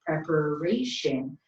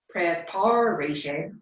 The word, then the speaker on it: preparation: Preparation is the natural stress of that word in English, preparation. But if I messed it up, I put the oomph behind the wrong syllable and I said preparation or something like that, everyone would still understand that word.